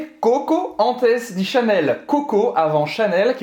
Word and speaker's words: Coco avant Chanel: Vou só pronunciar em francês para não me enganar entre Coco e Coco. Então vai ser Coco avant Chanel. Cocô como cocô mesmo, hein?